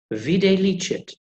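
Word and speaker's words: videlicet: Vide licet, usually written as V-I-Z, means already seen. We've already seen this before in the contract. Viz, vide licet. Well, at least I think that's how they're pronounced, because nobody really knows.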